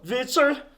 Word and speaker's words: Weitzel: W-E-I, not I before E. This is a weird name. Probably German. T-Z-E-L. Witzel. Not English.